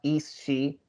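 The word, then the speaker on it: Aos Sí: the the word is Eos, but apparently it's pronounced East She, so I'm going to try to say it correctly.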